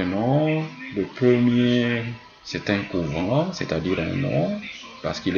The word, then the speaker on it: couvent: Le EN ne se prononce pas en, mais plutôt E, comme couve, à la troisième personne du singulier.